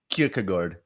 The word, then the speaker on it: Kierkegaard: so i can't remember trying to pronounce soren kierkegaard sudden kierkegaard certain kierkegaard just like odigord this would be kierkegaard and it would be surin and the quote for